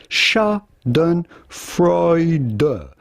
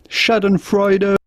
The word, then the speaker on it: Schadenfreude: particular isn't it how do you go about pronouncing this word Shaden freuder Shaden freuder shad and freuder so there you go shad and frea is